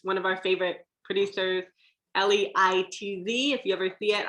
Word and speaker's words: Leitz: Leitz, one of our favorite producers, Leitz. If you ever see it, I always remind myself we pronounce it like lights out.